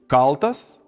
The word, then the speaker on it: káltas: When the stressed syllable of a word is long we can pronounce it in one of two ways. For example, káltas “forged” or kal̃tas “guilty”, sriuba áušta “the soup is cooling” but rytas aũšta “the day is breaking”.